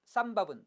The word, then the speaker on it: 쌈밥: 즉 예전부터 김밥, 쌈밥은 소리를 첨가시키지 않고 발음한 것이 맞았고 비빔밥, 아침밥은 소리를 첨가시켜 발음한 것입니다.